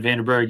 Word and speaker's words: Vandenberg: and what about you so yes I'm vanderberg you did pronounce my name the right way cool Texas